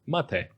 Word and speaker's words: MATE: mate or mate or mate as it's actually pronounced because in Spanish uh it's also it